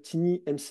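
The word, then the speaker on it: TinyMCE: Euh vous avez euh un éditeur qui maintenant est utilisé de base qui s'appelle Tini MCE. Alors je le prononce à la française hein, mais euh c'est un un un outil en fait qui est l'éditeur en fait de texte.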